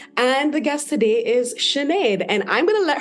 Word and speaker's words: Sinead: And I'm like, no, how you say lemonade? It's like Sinead. Yeah, that's a good one. I say Sinead because I say lemonade.